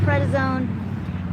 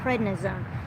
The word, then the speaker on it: prednisone: on one round of credit zone and then he got better prednisone Pratt I'm saying it wrong prednisone he got bad again